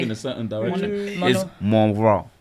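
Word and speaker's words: Mon Roi: Even the way saying why your mouth is moving in a certain direction is Monroy. Monora. But it's spelled M-O-N and then space R-O-I.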